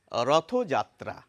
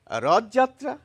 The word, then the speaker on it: রথযাত্রা: অর্থাৎ দুটি শব্দ যখন সমাসবদ্ধ হয়ে একটি শব্দে পরিণত হয় তখন প্রথম শব্দের শেষে একটি ওকার এসে যায়। এটি হচ্ছে প্রমিত বা শুদ্ধ উচ্চারণ রীতি। সেইজন্য আমাদের বলা উচিত রথযাত্রা। কিন্তু ওই যে বলে অনেকে রথযাত্রা তারা কেন বলেন এভাবে